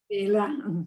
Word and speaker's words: Bela: When I read about in that portion, when you met, and I may mispronounce your husband, is it pronounced Bela? Bela, Bela.